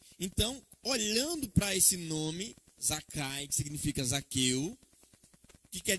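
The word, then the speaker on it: Zakkai: do nome Zaqueu então ali é a forma Hebraica como se escreve e a aqui é como se fala zakai e esse nome zakai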